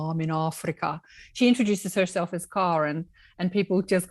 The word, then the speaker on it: Karen: I was at school with 5 Karens, and I still have many best friends that are called Karen, but Karen is the way I say it.